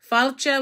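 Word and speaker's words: fáilte: are just scrabble letters it says falcha which is how you say welcome in gaelic which for those of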